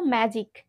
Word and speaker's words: magic: এখানে আমরা জি কে একবার জ হিসাবে উচ্চারণ করলাম, আবার আমরা এখানে গ হিসাবে উচ্চারণ করেছি।